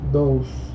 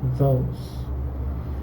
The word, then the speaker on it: those: utilizar those, que ojo, se pronuncia como si dijeran dos, pero con una U después de la O, those, más o menos así, ¿no? Those, ¿qué significa?